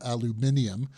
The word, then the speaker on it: aluminium: I'm very impressed with your pronunciation of aluminium which is actually British where'd that come from